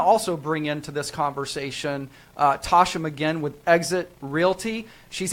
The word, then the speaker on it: Tashia: Is that how you say it, Tasha or Tashia? Because it's spelled amazingly. Yeah, no, it's Tasha. The I is silent.